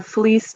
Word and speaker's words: fleece: jacket oh it's a fleece jacket that's what it means i thought flea was an insect flea is an insect but fleece with the s sound at the end is the uh fur